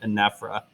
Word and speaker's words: anaphora: for me this is i pronounce this anaphra some people pronounce it anaphora but i'm fairly certain that you would pronounce it anaphora um so here's an